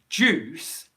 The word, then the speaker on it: juice: comment earlier juice okay juice is a really good example of where you get a yeah sound in front of the actual ooh so if i say juice and i drop the